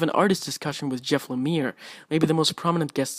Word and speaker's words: Lemire: most prominent guest star I'm pretty sure it's Lemire and not Lamar since the interviewer is said so Lemire didn't have any complaints so yeah I guess that's how you pronounce his name and things worked out